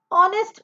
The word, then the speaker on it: honest: Honest person. So in this word, H is silent.